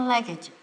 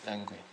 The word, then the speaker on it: luggage: 那个托运行李要怎么念呢 Checking luggage. ？Check language.